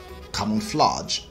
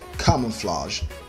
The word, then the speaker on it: camouflage: the tea appreciate appreciate number three camouflage common flag common flash the correct understand the pronunciation for that word is camouflage camouflage camouflage camouflage number four capitalism